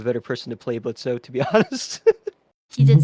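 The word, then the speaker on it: Blitzø: He's Blitzo, or Blitz. Oh, is silent.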